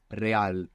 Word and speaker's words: real: talk about this R an initial a like in regular in most Spanish dialects it's rolling are you get this flick of the tongue regular real we saw this as